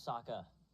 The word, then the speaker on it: Saka: you you lost uh my name's Saka rhymes with AA and waka waka she looks very brave